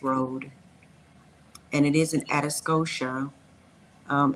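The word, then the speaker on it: Atascosa: Interstate 35 access road and it is an atos Scotia um atos Scotia is spelled a t a s c o s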